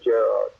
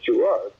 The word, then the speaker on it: Gerard: my name was Jerry because my mother would say Gerard, and my dad's Irish, he'd say Jared. So the pronunciation was different between the, but then the nun, when I was going to school, pointed out, oh, it's Gerard.